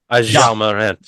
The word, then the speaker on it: Ja Morant: Would you like me to say it? Ja. Yeah. Is that how you pronounce his name? Yeah. Ja Morant.